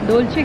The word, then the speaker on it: Dolce: इसको प्रोनाउंस कैसे करते हैं? डोल्चे या डोल्चे? डोल्चे कहते हैं।